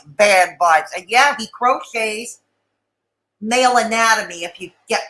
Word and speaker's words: Croce: It's pronounced crochet. Crochet. Think the old singer Jim Croce.